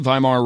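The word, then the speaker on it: Weimar: money um viar viar is spelled with a W it's pronounced viar though um money viar Republic you'll get pictures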